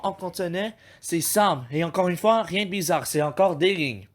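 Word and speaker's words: 三: Alors, pour prononcer le Sam, prenez le mot Sam, comme dans Samuel. Puis vous dites Sam.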